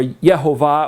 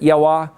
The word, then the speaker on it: Yahweh: It's Yahweh. Or Yehovah, or that's a whole other matter. How do you pronounce it? Yahweh.